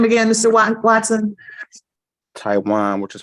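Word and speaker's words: Tijuan: docket what's your first name again Mr Watson Taiwan which is spelled t-i-j-u-a-n I was just a costume writer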